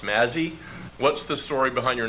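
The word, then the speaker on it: Mazzi: misspelled a lot its ma Zi Zi it's pronounced Mazzy what's the story behind your name why are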